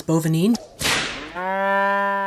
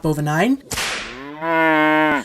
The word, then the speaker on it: Bovinine: of that ad that I figured out the pronunciation was boven een not both a nine as I've been saying all week the tantalizing remainders of